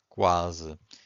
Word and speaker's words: quase: Because here we can hear the U. The U is not silent. But if you have Q-U-E, the U is silent. Quente. If you have Q-U-I, the U is also silent. Quinto. But if you have Q-U-A, that's in this case you can hear the U, right? So quase.